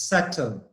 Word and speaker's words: subtle: notice in this word the B is silent here number one subtle mean the letter B is not pronounced it's subtle not something subtle okay